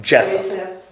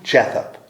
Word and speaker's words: Japheth: Japheth. Huh? Japheth.